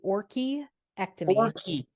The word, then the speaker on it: orchiectomy: We will be having a breast augmentation and orchiectomy. Am I pronouncing that correct, Dr. Ronnie? It's actually orchiectomy.